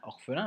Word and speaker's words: orphelin: Orphelin, trois syllabes, orphelin, on a le F d'éléphant et le 1 de lapin.